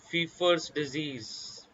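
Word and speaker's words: Pfeiffer's disease: fever also known as fifa's disease p is silent okay important diagnostic test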